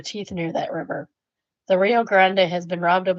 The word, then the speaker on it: Rio Grande: Next, we have a one uh star review for the Rio Grande. And yes, I do pronounce it the Spanish way.